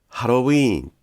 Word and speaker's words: ハロウィーン: ハロウィンは短いです。